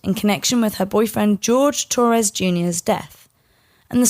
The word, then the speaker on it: Jorge: about this case and one of the main videos calls George Torres Jr Jorge throughout the entire thing now it is spelled like Jorge with j-o-r-g-e so Sarah calls him George his brother calls him George the police call him George so it is George okay that guy got